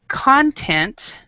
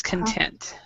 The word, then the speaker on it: content: with okay no now there's two words two pronunciations and two words with this word there's content and then there's content so you find like